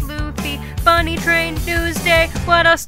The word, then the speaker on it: Luffy: The One Reborn, Sad Daddy, Cats 2019, it's pronounced Luffy, Bunny Train, Newsday, what else do I have to say?